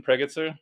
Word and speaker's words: Pregitzer: wife Sarah yeah so that's how you pronounce your last name yep just like it's spelled laughs awesome so get